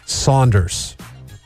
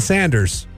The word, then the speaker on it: Saunders: But people call him John Sanders. Well, they shouldn't. They should call him John Saunders.